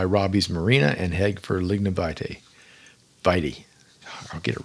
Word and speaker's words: Lignum Vitae: Lignum Vitae. I said it right. Janelle will be so proud of me. Lignum Vitae Key Botanical State Park, Isla Morada.